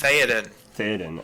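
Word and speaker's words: Théoden: Is that how it's pronounced? Theoden.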